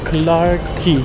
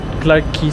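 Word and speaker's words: Clarke Quay: Clark Medyo punuan lang clarky hindi pala k key pala Clark key station tapos exit e Clark key pala Iyung pronunciation hindi hindi k clarky ba usually dito tayo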